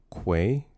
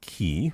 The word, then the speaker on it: quay: It's pronounced quay. Uh, say it with me now. With a Q. Quay. Quay. Not key.